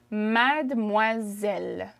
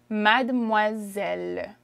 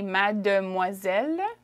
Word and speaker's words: mademoiselle: so i don't typically i wouldn't typically say mad de moiselle although that's how it's spelt but if i'm speaking i would say mad moiselle mad moiselle it's like we hop over the d okay you want to